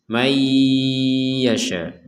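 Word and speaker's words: من يشاء: ada nunkun ku ya kita harus membaca dengan dimasukkan masukkan Nun ini kepada huruf ya disertai dengan dengungan mayyasya mayasya seperti itu jadi jangan masuk enggak ada denguannya mayyasya mayyasya Yahdi mayyasya ini kurang jadi harus ada dengungan May Yasya seperti itu di sini juga ada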